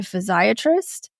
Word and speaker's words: physiatrist: that I see a physiatrist and whenever I say that people think I'm mispronouncing psychiatrist but I mean physiatrist and I see her